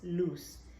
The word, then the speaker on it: Luz: my name is loose you pronounce it like loose like l-o-o-s-e if you need an English version of it yes and it's okay